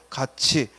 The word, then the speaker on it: 같이: 가티가 애가 모자라잖아. 따라서 가티가 아니라 뭐라고? 같이.